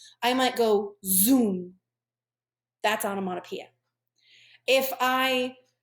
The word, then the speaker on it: onomatopoeia: very scary doesn't it pronounced Oh No ma Oh piya these right here are examples of onomatopoeia it sounds like a